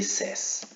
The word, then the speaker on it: says: say say you say says in this case you add letter s there is no problem but the pronunciation is different says okay says no says like the number in spanish no says okay be